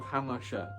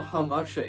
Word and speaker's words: Hamartia: Welcome everyone to the history of the Republic of Hamartia. or "Humasha" if you pronounce it the more rural way!